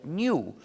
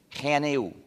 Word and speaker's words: GNU: No obstante, cuando hablas castellano, puedes pronunciarlo new, como si comenzara por ñ, lo que es también el nombre del mismo animal.